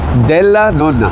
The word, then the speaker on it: Della Nonna: you pronounce it again? Della Nonna.